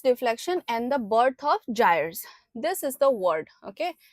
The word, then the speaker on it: gyre: The Coriolis deflection and the birth of gyres. This is the word, okay? It is pronounced as gyres.